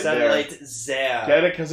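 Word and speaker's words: Zi-A: Oh, I thought it was Zia. That's what we all thought, but apparently it's Satellite Zia.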